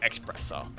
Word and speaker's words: espresso: A lot of people pronounce espresso espresso. That's not so much like an issue in pronunciation as it is because people genuinely think that's what it's called.